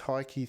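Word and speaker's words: Heikki: it this one is I think it's pronounced Heike 360 es hei double ki 360 the number II s and let's go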